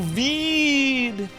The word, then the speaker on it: vide: The vide in sous vide is pronounced vide.